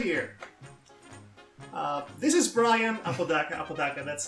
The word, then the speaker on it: Apodaca: This is Brian Apodaca, that's how it's pronounced. Apodaca, yes.